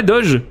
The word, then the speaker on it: doge: Ouais, Doge. Ça se prononce Doge.